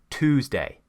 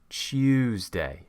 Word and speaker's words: Tuesday: In British English, we create the y and it becomes Tuesday. So that's one way of pronouncing it in British, but another common way to pronounce it in the South would be pronouncing a ch sound.